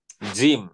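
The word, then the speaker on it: جيم: আজ এটা হচ্ছে জিম দিয়ে, মনে রাখতে হবে জিমের উচ্চারণ হচ্ছে বর্গীয় জ, বর্গের জ। বর্গীয় জ। এবং ইংলিশে এটাকে বলে হচ্ছে জ্যাক। হ্যাঁ, তাহলে ইংলিশের যে জ্যাক, সেটা হচ্ছে বাংলায় বর্গীয় জ, আর অ্যারাবিকে হচ্ছে জিম।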